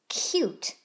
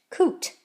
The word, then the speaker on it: cute: And I got lucky because I guessed that the U was saying its full name, U. But sometimes you might try the other way with its nickname. Let's see what it would sound like in that case. Oot, oot, k, oot, coot. It doesn't quite sound right, and so it's a good thing I decided to use the U's full name, Ute, cute.